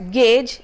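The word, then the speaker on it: gauge: on this list is G au ge which is to be pronounced as Gage and not as God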